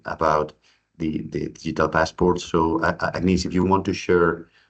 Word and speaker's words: Agnese: So as Iñigo mentioned, my name is Agnes, or Agnese, if you can pronounce it in an Italian way.